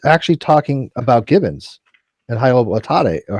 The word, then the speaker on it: Hylobates: When it comes to the human chromosome number 2 fusion site, he's actually talking about gibbons and hyloblatate, or how do you pronounce that? Hylobates.